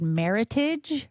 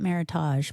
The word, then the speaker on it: Meritage: they use the word meritage which looks like heritage but with an M and they pronounce it heritage not maritage but um that's